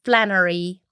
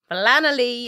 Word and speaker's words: Flannelly: Like, it's Flannelly, because people always say Flannery. Flannelly. It's the wrong way to pronounce it.